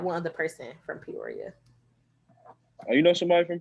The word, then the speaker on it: Peoria: Yeah, Peoria.